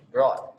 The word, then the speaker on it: brought: Bacanya bukan brew ya, brought. Yang benar brought. Brought, BR, kalau simpelnya BROT, brought.